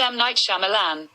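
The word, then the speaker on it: M. Night Shyamalan: pronounce m night shyamalan that's pronounced m night shyamalan m night shyamalan m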